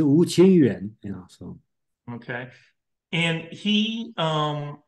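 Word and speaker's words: 吴清源: I believe it's Wu Qingyuan.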